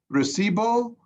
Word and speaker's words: recibo: Is it recibo or receive? Is So the emphasis again, on, put the emphasis on E. Ibo.